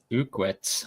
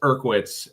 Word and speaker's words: Urkwitz: Ended up number two was Evan Ukwitz. I butchered that name terribly. I'm sorry. with a 79 Malibu with overall average of 543. Yeah, don't feel bad. I I butchered his name a bunch too until he corrected me. It's Urkwitz.